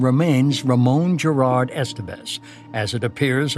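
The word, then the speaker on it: Ramón: the only one in the family who pronounced my first name properly. Ramon, he would intone, and coming from him, it sounded classical and romantic. But all my 9 siblings pronounced it Riman, or they called me by my nickname.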